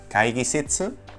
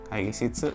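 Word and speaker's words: 会議室: Por ejemplo, la palabra sala de reuniones es kaigisitsu, entonces en lugar de utilizar otearai, utilizaremos kaigisitsu. Kaigisitsu se escribe así.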